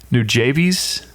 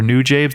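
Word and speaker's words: Nujabes: on to I think I think it's pronounced new javies or new jabes it's they do the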